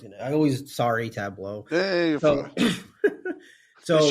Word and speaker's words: Tableau: Tableau. I know it's gonna. Tableau. Hey, you're fine. So they shouldn't have named it that way. They should have spelled it TABLO. Done. Tableau.